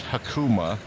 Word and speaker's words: jicama: Jicama. That comes from a tree, I thought. Yeah, they're saying it's hakuma. That Greek sandwich that people mispronounce.